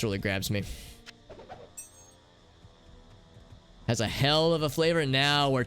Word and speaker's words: Hel: to the hell rune maybe it's pronounced like hell it's it hell with one l so it's like hell rune not not double hockey sticks just one hockey stick wow two big chests